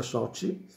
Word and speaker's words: Sochi: italiano a soci a sochi che si pronuncia soci e quindi dove chiunque